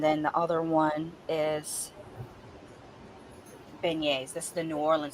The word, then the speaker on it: beignets: is yes it's pronounced beignets it's a it's a French term but it's spelled as you can see you know how French is there's always extra letters there that you don't have to pronounce but yeah it's pronounced